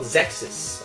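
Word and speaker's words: Xexyz: on the list uh it's called zexus uh it's kind of kind of weird pronounced x e x y z um if i never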